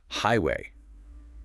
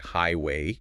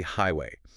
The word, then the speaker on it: highway: First up, highway. People sometimes stress the second part like highway. Yeah, I've heard that. But it's really highway. Stress on the first syllable. The second part is softer.